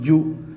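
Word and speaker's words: جُ: Now we have to pronounce this one Jim Pesh Ju, Jim Pesh Ju.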